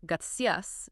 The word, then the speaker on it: gracias: So instead of gracias, it's almost like gracia. Yeah, like gracia.